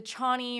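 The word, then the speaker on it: Chani: yeah no the the Chie or Cheney I think it's actually supposed to be pronounced cheny but it's just too dick chy dick chy I think Chie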